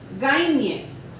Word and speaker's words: gagne: For example, montagne, montagne, Espagne, Espagne, gagne, gagne.